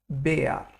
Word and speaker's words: Bär: Now, R in German is a strong letter. It's pronounced like AR. So we'll not pronounce this like bear. We'll rather say it Bär.